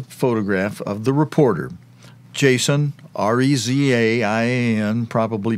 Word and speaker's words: Rezaian: Jason Rezaian, or Rezaian, his last name is spelled R-E-Z-A-I-A-N. R-E-Z-A, like Reza, I-A-N, Eon. Or it might be pronounced, instead of Rezaian, it might be pronounced Rezaian.